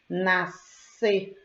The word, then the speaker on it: nascer: Eu tenho aí as duas letrinhas SC, mas na pronúncia, ou seja, no som, ele apresenta apenas um único fonema. Nascer, nascer. Observem do lado o fonema.